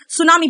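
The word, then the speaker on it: tsunami: अनियमित की बात करें, सुनामी, बेटा सुनामी का स्पेलिंग एग्जाम में आता है, टी से स्टार्ट होता है और टी साइलेंट यहाँ पे।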